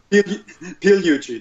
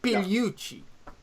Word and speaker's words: Pigliucci: or something like that maybe you should pronounce it for good measure is that closeing enough Puchi the G is basically silent Puchi yeah there you go